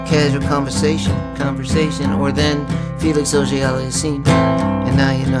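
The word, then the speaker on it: Auger-Aliassime: Antetokounmpo in your casual conversation, or then Felix O.J. Aliassime, and now you know how to say it. Felix O.J. Ali, I seem to be missing my cardigan. So here's the chorus then. O.J. Aliassime, O.J.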